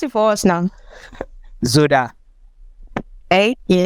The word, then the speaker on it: ZODA: ZODA. Hey, yeah, it sounds like soda. Sounds like what? Soda. Like the SODA. Like just ZODA.